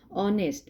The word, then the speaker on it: honest: करते हैं डी ऑनर्स इसको हम ऑनेस्ट नहीं पढ़ेंगे कुछ बच्चे इसको ऑनेस्ट पढ़ते हैं लेकिन ह इसमें साइलेंट है तो क्या है ऑनेस्ट मेंस ईमानदार ठीक है